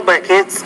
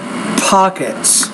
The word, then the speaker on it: pockets: compressive than any air buckets between air pockets you have to pronounce your p with more air or it sounds like a b so air pockets and then become very